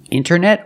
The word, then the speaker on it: internet: wanted or wanted it's more common to hear Americans say wanted you have NT in the middle the t is silent other examples internet or Internet International International or International